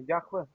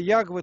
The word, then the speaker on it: Яхве: Я слышал, это неправильное имя. Яхве. Яхве, я знаю. Яхве, Ягвы там проще, неправильное произношение.